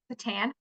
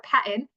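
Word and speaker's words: PaTTAN: Pennsylvania Secondary Transition Roadmap by Patan or Patton. I keep hearing it pronounced both ways, and it seems to almost be a regional thing.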